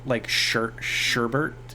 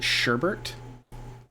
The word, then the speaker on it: sherbet: I somehow got it in my mind that, you know how despite being spelled like sherbet or sherbet, some people pronounce it sherbert.